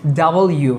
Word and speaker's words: W: এই ইউটা এখানে লিখবো তাহলে কি হচ্ছে ডাবল ইউ right ডাবল ইউ এভাবে আমরা উচ্চারণ করব এই লেটারটাকে ডাবল ইউ ভি ইউ ভি ডাবল ইউ ভি ডাবল ইউ এভাবে তাহলে ইউ তো আমরা চিনি কিন্তু ডাবল ইউ এটা আমরা অনেকেই ভুল করি ডব্লিউ বলি ডব্লিউ বলি আরো নানা